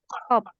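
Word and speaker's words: 컵: Kop. Berarti di sini dia tetap dibaca P aja ya. Maksudnya tidak dibaca B, tapi berubah jadi P.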